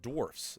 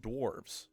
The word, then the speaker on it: dwarfs: though first is that it's pronounced dwarfs not dwarves second is that these